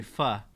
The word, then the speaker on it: pho: Ellie Higgins said it's pronounced F without the O. It's actually pho, like more like an A.